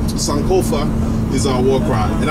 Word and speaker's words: Sankofa: All right, so this piece is called Sankofa is our war cry. And I want to make sure that I'm saying that right. So I'm gonna have to ask. Polina, is it Sankofa? Yes, Sankofa.